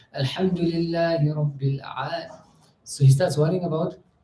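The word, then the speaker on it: العالمين: So you say, Alhamdulillahi Rabbil Alameen. Then he says, no, my ayn. Alhamdulillahi Rabbil Alameen. No, the ayn wasn't right. Alhamdulillahi Rabbil Alameen.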